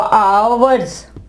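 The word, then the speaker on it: hours: और इसके अलावा आवर्स, आवर्स घंटों को कहते हैं। यहां पे देखें एच जो है वो साइलेंट है, यहां पे एच जो है साइलेंट है।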